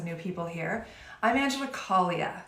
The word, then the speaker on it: Caglia: I'm Angela Caglia. The G is silent, like lasagna.